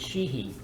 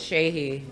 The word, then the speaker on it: Sheehy: The correct pronunciation is Sheehy. Sheehy, sorry. Sheehy, I so- keep calling it Shahey.